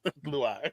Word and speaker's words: Luai: Luai. It's either Luai. It's either Luai or the more accepted pronunciation of dickhead.